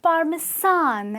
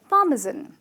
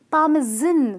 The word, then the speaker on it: parmesan: happens to be par-me-zon and not parmesan as a lot of people say it out because if you say as parmesan it kind of remind me of Japanese gentleman and that definitely not the pronunciation the pronunciation is parmesan ok so if you what some you know grated parmesan cheese on your pizza remember its par-me-zon the sound with a "Z" and it’s not the